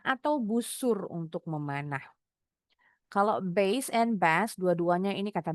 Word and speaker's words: bass: Gitar bas pengucapannya base. Base. Ikan bas ini sejenis ikan kakap putih. Bacanya bas. Basse. Bas.